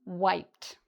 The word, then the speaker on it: wiped: Okay, so I'm gonna just, for pronunciation, it's pronounced like a T at the end. And again, it's 1 syllable. I'm wiped.